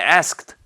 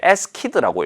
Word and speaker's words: asked: 혹은 과거형을 잘못 읽어서 asked, 원래는 asked 라고 읽는데 askid라고 읽거나, 혹은 carriage인데 carriage라고 읽거나, 이렇게 약간 발음이 잘못되거나 혹은 뭔가 말하기를 하면서 어법적으로 안 맞는 것을 할 수도 있고요.